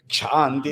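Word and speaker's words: क्षान्ति: Kshanti. Breathing So the automatic. stress is on the ksha, not on the hi.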